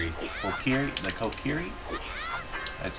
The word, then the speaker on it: Kokiri: The story is that the young boy named Link, canonically, is his mother traveled to the Korki, Korki? How do you pronounce it? Kokiri? The Kokiri?